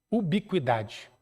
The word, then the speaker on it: ubiquidade: chamada teoria da ubiquidade se escreve como se fala Ubi com idade o que o ubiquidade porque porque nós consideramos